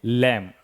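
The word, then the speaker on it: lamb: Silent. क्या पढ़ेंगे? लैंप।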